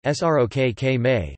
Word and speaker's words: ស្រុកខ្មែរ: Colloquially, Cambodians refer to their country as either Srok Khmer, Khmer pronunciation, Srok Khmer, meaning Khmer's land, or the slightly more formal, pre-Kampuchi Khmer pronunciation, pr, te kam.pu.ci, literally, country of Kampuchea.